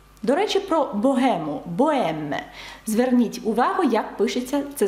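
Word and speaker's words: bohème: приклад також дам вам слово Богема французькою воно пишеться бое з літерою аш всередині але аж не вимовляється ніколи до речі про богему боем зверніть увагу як пишеться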